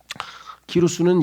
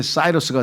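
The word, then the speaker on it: Cyrus: 페르샤 왕 키로스가 키루스는 영어로는 이게 사이러스가 돼요.이 이 시자 영어의 철자 시자가 라틴어에서는 키라고 해서 K로 발음이 되고 그다음에 영어에서는 s처럼 발음이 돼요.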